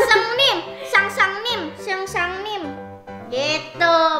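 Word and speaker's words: 선생님: Ah, seng seng nim, sang sang nim, seng sang nim. Gitu bacanya.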